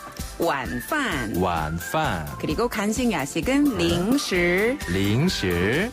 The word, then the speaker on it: 零食: 중국어로 零食. 零食. 한 번 더, 零食. 零食. 그렇죠. 이때 사랑스럽네요. 네, 발음이 단어 자체가.